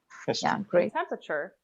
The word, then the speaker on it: temperature: history history history history temperature the second e after the p is often not pronounced right so you can